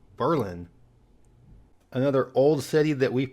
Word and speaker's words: Berlin: first see this word you'll probably think of Berlin Germany first however in the U.S we do things a little bit differently whether you're in New Hampshire or in Maryland it's Berlin another old city that